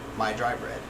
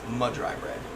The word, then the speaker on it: Mud Dry Bread: Or we have a guy that we watch named My Dry Bread. Or, sorry, it's pronounced Mud Dry Bread.